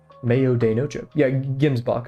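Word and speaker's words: gemsbok: pronunciation Mayo noo yeah gims boach okay gims boach not Jims boach gims boach Okay cool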